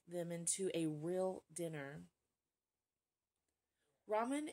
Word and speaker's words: ramen: into a real dinner Ramen is the Japanese pronunciation of the Chinese word Lan L Lan Ramen and Laman should similar sound similar right Ramen Lam lamin lamin